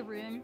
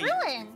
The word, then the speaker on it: ruin: Instead of ruin, you say rune. Ruin me. Me? Yeah. It's the accent. Funny. How else do you say? You say ruin. Ruin me. Yeah. Ruin. It's two syllables.